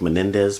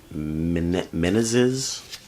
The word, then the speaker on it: Menezes: can't pronounce his name it looks like Menendez but he said don't confuse me with those brothers Menendez it's been minute menaces anyway amazing amazing blues